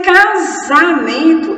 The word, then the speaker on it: casamento: Mas em casamento, eu tenho zá e não foi escrito com Z, foi escrito com S.